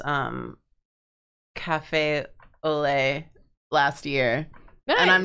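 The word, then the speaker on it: café au lait: hidden sounds um I only realized how to pronounce um Cafe Olay last year and I'm not confident in that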